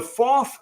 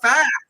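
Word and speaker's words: Pfaff: But if you didn't type it in the live chat, the FOF Sewing Machine Company, and it is FOF, not AF, like a lot of people say.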